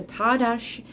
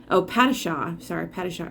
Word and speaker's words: Padishah: struck fear even into the heart of the Padashah Emperor. Padishah Emperor. There was Duncan Idaho, the swordmaster of Guinness, pronunciation.